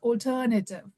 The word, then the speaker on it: alternative: alternative, yeah, Yeah, alternative, but yeah, the correct pronunciation is alternative.